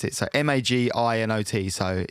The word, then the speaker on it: Maginot: it's called i'm gonna i've done how to pronounce it so m-a-g-i-n-o-t so it's french so even maginot i i